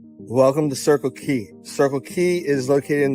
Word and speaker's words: Quay: So let's go check out Circle Quay. And it's spelled differently too. So I'll show you how it's spelled. So you're not like, where's K-E-Y?